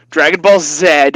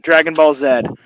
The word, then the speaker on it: Dragon Ball Z: it said what z z z you Canadians Dragon Ball Zed I'll say it that way it's not Canadian